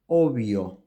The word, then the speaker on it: obvio: approximate sound Tabla Tabla the same happens if the two consonants are together like in the word obio ovio in English this would be very different and you would pronounce obvious obvious so there you are